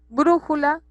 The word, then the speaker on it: brújula: Brújula es una palabra esdrújula. Entonces, última, penúltima, antepenúltima sílaba.